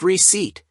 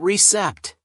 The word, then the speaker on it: receipt: It's pronounced receipt, not recept.